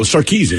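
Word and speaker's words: Sarkisian: that's the only reason I knew how to pronounce her last name when I saw it seriously I was like oh sarkeesian I got him all right Tanner your question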